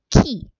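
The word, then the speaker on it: 木: And the kanji for tree is ki.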